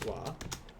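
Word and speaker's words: は: then we have our topic marker which is wah even though it's pronounced as wah and the hiragana is hot here we'll put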